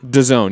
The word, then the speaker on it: DAZN: That's how you pronounce it? DAZN, yeah.